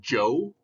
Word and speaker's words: Zhou: China the Shang and Joe pronounced Joe like the person's name dynasties talk about technology